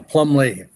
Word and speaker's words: Plumlee: Is it Plumbley? Is that the pronunciation? Right. You got it. Yeah. Plumley.